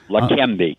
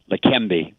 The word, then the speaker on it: Leqembi: Maroon, correct me if I say it wrong. Leqembi? Is that correct? That's correct. Leqembi, K-E-M. Leqembi.